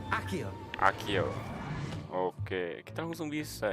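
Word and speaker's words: Accio: Akio atau Asio ini bacanya? Akio.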